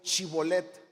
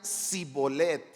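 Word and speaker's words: Shibolet: Entonces le decían ahora pues di chibolet y si él decía si bolet porque no podía pronunciarlo correctamente Entonces le echaban mano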